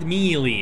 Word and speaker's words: melee: call it melee skill why do somebody freaking pronounce it melee it's melee it's French melee skill everyone needs fairly